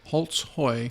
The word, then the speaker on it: Holtzhoy: Okay, Holtzhoy. Holtzhoy. But phonetically spelled Holtzhoy.